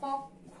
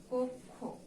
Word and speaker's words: কক্ষ: তারপরে দেওয়া আছে কক্ষ, এটার উচ্চারণ কক্ষ হবে না, এটার উচ্চারণ হয়ে যাবে কি, কক্ষ। তাহলে কি, যেহেতু স্বরেয়র পরে যুক্ত খ আছে, এই যুক্ত খ থাকার কারণে স্বরেয় ধ্বনির উচ্চারণটা কিসের মতো হয়ে যাবে, ও এর মতো হয়ে যাবে।